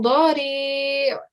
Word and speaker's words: ضريع: And try and give the ayn sound at the end as well, yeah? Because ayn is one of your throat letters. The sound comes from your throat.